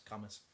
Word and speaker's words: Cambois: I've met his nephew a few times because he's got a pub in Camas, or is it pronounced Cambois? It's not Cambois, it's Camas. Just spelled Cambois.